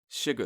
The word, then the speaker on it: Suga: Oh, when I made that, we did that calling him like Sugar. Yeah. I got a message from someone like, isn't it pronounced Suga? And I was like, yeah.